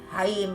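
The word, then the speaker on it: Chaim: Haim is spelled C-H-A-I-M.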